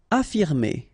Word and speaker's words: affirmer: Affirmer. Okay, even if we've got two F, well, only one should be pronounced, so affirmer. Convenir.